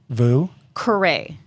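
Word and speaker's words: Vieux Carré: Vue Carré.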